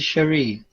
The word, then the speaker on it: Cherie: sherry cameron sherry uh c-h-e-r-i cherie you pronounce it shari yes is david and